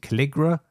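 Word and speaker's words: Calligra: I think you pronounce it Caligra, but it is supporting Linux, free BSD, Windows, and Mac OS.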